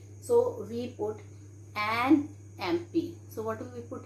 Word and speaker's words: MP: Okay, so here we write an MP, because children, though it is starting with consonant letter, but the sound we are having here is vowel sound, so we put an MP.